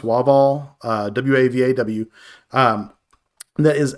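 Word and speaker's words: WAVAW: stream uh for uh i think it's pronounced wah ball uh w-a-v-a-w um that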